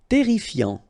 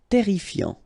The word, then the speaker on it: terrifiant: Terrifiant. Final T not pronounced. Double R here, so it will open the pronunciation of your E, and then it will be E. Terrifiant.